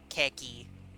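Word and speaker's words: ケーキ: It's like another one that you learn is cake, which is keki.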